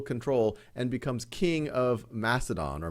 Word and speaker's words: Macedon: actually takes full control and becomes king of Macedon or Macedon as it's often pronounced in 359 BCE and what he then